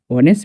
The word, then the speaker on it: honest: For example অনেস্ট, অনেস্ট বানানটার দিকে তোমরা follow করো, HONEST অনেস্ট, এখানে এইচ সাইলেন্স।